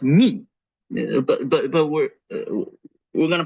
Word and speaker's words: mu: not pronounce this letter mu this is the mathematical English way of pronouncing the letter mu in Greek this is this letter is pronounced me but but we're we're